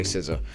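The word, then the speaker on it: SZA: her name sea siza somebody told me it was siza so I'm going to say siza the songs that he rites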